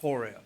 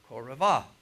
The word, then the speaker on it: Horeb: We call it Horeb, but the actual Hebrew pronunciation is Koravah.